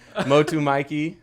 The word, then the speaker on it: Motu Mikey: Motu Mikey.